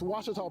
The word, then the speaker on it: Ouachita: Texas everybody pronounces it Wichita but really it's Ouachita Ouachita Washington how would you pronounce it it's Ouachita Baptist University get it right it's Ouachita people it's Ouachita Washington welcome back to